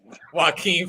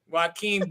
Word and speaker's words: Joaquin: I had to think of Cuz from the Joker movie to remember how to say my name right. Joaquin Phoenix. I had to think of him. Joaquin Buckley versus my man Rakan.